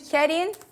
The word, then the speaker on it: Karin: either way it's okay i pronounced it kerin but you know in my passport it's written so no big deal